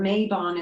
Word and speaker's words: Mabon: Mabon would be, or Mabon is a very popular neo-pagan term for autumn equinox. This is the Welsh term.